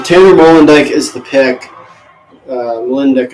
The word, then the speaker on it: Molendijk: Molendijk, I'm pretty sure is how you say it.